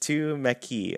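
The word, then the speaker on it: tumeke: and they are customizable to meke pronounced to mckee oh to meki means too much awesome thank you squee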